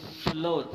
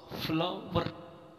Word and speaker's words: flour: तो अब इस तरीके से जो फ्लोर, फ्लोर, फ्लोर, ये गलत है। ये वर्ड गलत है, इसको इस तरह से पढ़ा जाएगा FLOUR, फ्लो, फ्लावर, फ्लावर, फ्लावर।